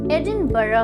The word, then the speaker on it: Edinburgh: बहुत ही बेहतरीन जगह, एडिनबर्ग। डू you also pronounce it एज एडिनबर्ग? Yes, many people do, लेकिन इस वर्ड की सही प्रोनाउंसिएशन है एडिनबरा, एडिनबरा।